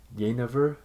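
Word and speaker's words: jenever: from the netherlands and i believe it's uh pronounced yay never and it's kind of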